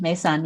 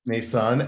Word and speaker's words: Meisaan: this would be a great conversation um Crystal mesan Chan did I pronounce it correctly yes you did mesan yes mesan and you are uh based in Chicago uh